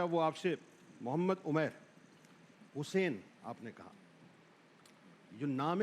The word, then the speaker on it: حسین: جب بھی بات کرو حضرت حسین علیہ السلام کا جب بھی نام لو, حسین اندر سے نکلنا چاہیے, حسین نہیں حسین, یہ اس کا اصل تلفظ ہے.